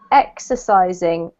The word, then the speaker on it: exercising: the first one is exercising exercising exercising perfect so the emphasis here is on the first syllable the X okay exercising perfect yep same